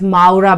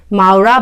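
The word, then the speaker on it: Mowrah: be really good, and it's known as Maura butter. So it's spelled as M-O-W-R-A-H, Maura butter.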